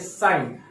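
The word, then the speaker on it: sine: साइन theta, साइन, इसको बहुत लोग सीन पढ़ते हैं, तो सीन is wrong pronunciation, the right pronunciation is साइन।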